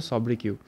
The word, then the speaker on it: sobriquet: ওকে তোমরা কিন্তু উচ্চারণ করবে সবকিউ।